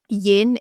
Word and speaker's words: Yin: Yin is Yin rhymes with dim, and that's how I remember like that side of it.